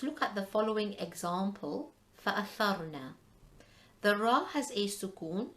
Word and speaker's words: فَأَثَرْنَا: So the first word, فَأَثَرْنَا, the Ra sakina is preceded by a tha with a fatha. So فَأَثَرْنَا is red heavy.